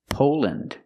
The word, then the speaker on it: Poland: Again, we're pronouncing them with the short sound, lind. Iceland, Greenland, New Zealand. And there's more. Finland, Poland, Switzerland.